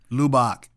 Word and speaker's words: Lubbock: The way she said it was not correct. Lubbock.